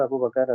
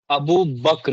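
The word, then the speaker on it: أبو بكر: अलैहि वसल्लम के और अबू बकर रज़ियल्लाहु अन्हु के। और परसूट में निकलने के बाद अब्दुल ये समद, अबू बक्र है नाम, अबू बकर नहीं है। BAKR, BAKAR नहीं, अबू बक्र है सही प्रोनाउंसिएशन।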